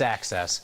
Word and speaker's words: AXS: in the office today with access versus axs it's access i got it wrong